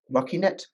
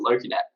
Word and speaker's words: LokiNet: And this one, we're going to be talking about LokiNet. Well, Australians usually pronounce it LokiNet. But, you know, I'm fine with LokiNet as well.